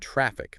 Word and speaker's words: traffic: And traffic, that last bit, the K-fic, sometimes gets mumbled. Really hit that K sound at the end. Traffic makes it clearer.